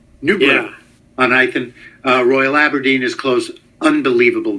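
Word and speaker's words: Newburgh-on-Ythan: How do you say it there? Newborough on Ithen. Ithen? Newborough on Ithen. Newborough on Ithen.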